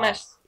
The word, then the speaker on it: mas: ah, Mas. but how do I pronounce that?